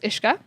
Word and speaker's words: uisce: But anyways, word for water is ishka. Ishka. Ishka. Uisce, obviously Yeah. pronounced ishka.